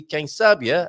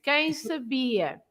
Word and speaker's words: quem sabia: Do you remember, Carlitos, that the words ending in IA, the stress must be at the end, like leiria, remember? Leiria. And quem sabia. Oh. Everything that finishes in IA, like you say, padaria, pastelaria.